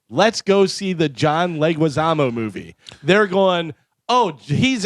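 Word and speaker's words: Leguizamo: I always try and add a extra syllable in there and I always go John Legoamo.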